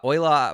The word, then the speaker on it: Euler: it's Euler it's up it's named after the mathematician the famous mathematician who I can't remember